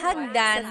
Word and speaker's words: hagdan: And remember, Alrighty, and then stairs, hagdan, don't forget to stop hagdan, sound doors, stairs is hagdan, pinto, pinto.